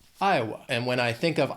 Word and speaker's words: Iowa: Iowa has 3 syllables and the stress is on that first syllable. Iowa. Again, Iowa spelling, pronunciation, a little crazy. Iowa. That second syllable has that schwa. Iowa.